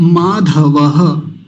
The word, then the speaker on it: माधव: गलत ना हो जाए दूसरी पंक्ति का प्रथम शब्द माधव यह ध है है ना आपको तो